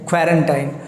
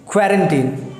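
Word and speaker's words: quarantine: ये सुना है और लोग इसे मिस प्रोनाउंस करके बोलते हैं क्वारंटाइन, जो कि गलत है। इसका जो सही साउंड है इट्स कॉल्ड क्वारंटीन, क्वारंटीन ना कि टाइन। तो आप इसे टाइन ना बोलकर बोलेंगे टीन, सो it will become क्वारंटीन।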